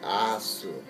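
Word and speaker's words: アース: But you know the Japanese pronunciation? It's seibuzi asu. I really like that one. I've even seen t-shirts that say, "We love earth." But if you pronounce it like they do over here, it's "We love asu."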